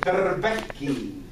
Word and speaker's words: darbeki: So if you're Lebanese, we call it darbeki.